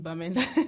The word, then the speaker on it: Bamenda: No, it was in Bamenda.